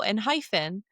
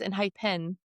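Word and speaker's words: ENHYPEN: So, I was like, "Oh, and hyphen," but no, it's in hip hen.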